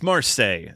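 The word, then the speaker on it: Marseillaise: It's Marseille is the name of the song. It's the French song, Marseille. I read it phonetically, and I don't want to seem like an uncultured swine, so...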